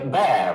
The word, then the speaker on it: bear: The same goes for bear, rhyming with wear and tear.